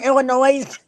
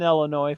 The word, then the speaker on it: Illinois: it drives me nuts yeah or Illinois we lived in Illinois for a while yeah that that would blow me over when people put an S on it for sure I'm trying